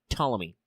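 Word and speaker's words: Ptolemy: Tommy one s born 369. Nice. BCE died 282. Not nice. BCE. The P is silent.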